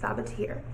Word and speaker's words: Sabaa Tahir: That's how you say it, Sabaa Tahir.